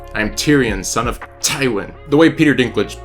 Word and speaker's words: Tywin: But my actual favorite character name is, and you have to say it like Peter Dinklage, you have to get that t. It's Tywin. I'm Tyrion, son of Tywin.